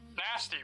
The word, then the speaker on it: Nast: Robert Nasty. Nast. The name is Nast. The E at the end is silent.